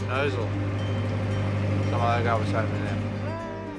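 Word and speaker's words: Gnosall: You just said you don't say the G. Yeah, I didn't say the G. Yeah. Nossal, Nozzle, comment below.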